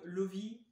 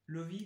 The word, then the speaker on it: Loewe: une Soundbox de marque Lovi, ou Lowy, je sais plus. Lovi, donc c'est une marque allemande, hein, je sais pas si vous connaissez. Ça s'écrit Loewe.